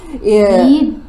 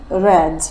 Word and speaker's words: read: Read. Read. So the word read is spelled the same, no changes, yes. But we pronounce it different for the past tense, yes?